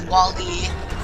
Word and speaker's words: WALL-E: It's kind of like how it's Wall-E. I wanted to point that out there because I had people mispronunciate them a couple times, and they thought